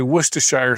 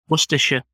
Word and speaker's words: Worcestershire: Now, I used to live in New Hampshire, and they used to say Worcestershire sauce. How do you say that? Worcestershire.